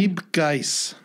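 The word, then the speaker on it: Miep Gies: Miep Geis.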